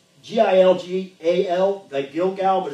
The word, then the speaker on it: Gilgal: Wherefore the name of this place is called, it's G-I-L-G-A-L, the Gilgal, but it's pronounced Gilgal.